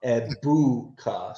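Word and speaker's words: Egbuka: Eboua. So, the G is silent in his last Yeah.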